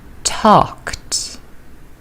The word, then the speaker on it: talked: Arrived, visited, talked. And here are the answers. Arrived, ed is pronounced with d, arrived. Visited, ed is pronounced as id, visited. Talked, t, ed is pronounced as t.